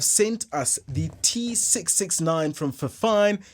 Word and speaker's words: Fifine: us the t669 from for fine yeah it rhymes they've sent us that